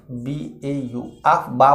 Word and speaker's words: Aufbau: Both sets of d orbital follow the above principal AUFBAU। आफ बा बोला जाता है, हम लोग बाउ बोल BAU, इस ताकि आपको स्पेलिंग समझ में।